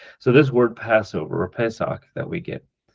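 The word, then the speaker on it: פסח: It's a translation from a Hebrew word Pesach, Pesach. If you were to transliterate it, Pesach with a ch sound at the end.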